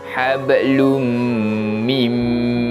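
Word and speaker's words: حبلٌ من: Yang mana kita akan cara bacaan idgham bi gunnah ini, kita akan memasukkan bunyi bacaan tanwin tadi kepada huruf selepasnya dan dibaca dengan bacaan dengung. Jadi hablum, hablum mim masad.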